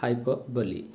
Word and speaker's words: hyperbole: hyperbolic figure of speech the pronunciation of this word hyperbole is hyper bully uh hyperbole basically is